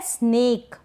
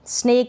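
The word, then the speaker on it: snack: ये है स्नेक, नहीं, स्नेक नहीं पढ़ेंगे, स्नैक पढ़ेंगे। क्या पढ़ेंगे? स्नैक। स्नेक तो सांप हो जाएगा।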